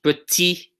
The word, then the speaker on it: petit: This one, we don't pronounce the final T, right? This does not get pronounced. Petit, right?